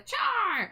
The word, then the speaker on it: Char: I mean, whenever people ask me how to pronounce my name, I tell them char like Charmander because it just is like the easiest thing to say, too.